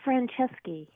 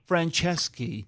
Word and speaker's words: Franceschi: Hey, can I say one thing? Sure. It's Franceschi. Franceschi. You know Yeah. what? Sometimes I can get that mixed up, because you're the first person I've ever encountered that has that last name.